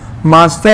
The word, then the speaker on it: Mazda: फिर इसमें देखो मास्टा करके याद रखना था इसको सीक्वेंस, मैंगो वाला। मास्टा एक कार है, पता होगा मास्टा, उसमें जी